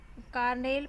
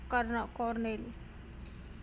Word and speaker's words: colonel: Its modern pronunciation Carnel probably comes from an alternative from for, formerly in use Cornell.